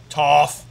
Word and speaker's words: Toph: I think it's more like Toph like tough is what they're going for.